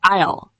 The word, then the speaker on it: aisle: It's spelled weird, but sounds like aisle.